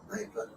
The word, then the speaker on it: Kneipe: Germans call a small It's really a pub, and the Germans call a small pub a Kneipe.